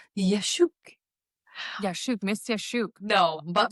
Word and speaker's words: Yaschuk: Do you know how to properly pronounce it? I can't tell you. You're gonna call it. Yes, it's Yaschuk.